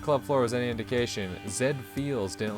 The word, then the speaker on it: Z Feel: It's pronounced Zed Feels. Like the anime robot, you know?